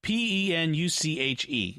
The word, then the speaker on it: penuche: Panouche. I have no idea what that is. Penuche is how it's spelled. So I'm probably saying so it they wrong.